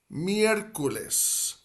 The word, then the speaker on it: miércoles: So we would say for Wednesday in Spanish, miércoles. Miércoles. Miércoles. Miércoles. Miércoles. And that first E, miércoles, like the start of that second syllable, miércoles, that first E is where the accent is placed in miércoles.